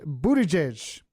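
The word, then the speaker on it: Buttigieg: mayor of South Bend his name is Pete Buda jesh I pretty sure that's how you pronounce it he is impressive because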